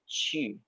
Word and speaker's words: qu: Lause sering mengajari kalian bahwa Q itu dibaca seperti C sama H. U kalau ada ketemu Q, maka dia dibaca seperti titik 2. I-nya ada 2. Maka bacanya bukan Cu, tapi Qu.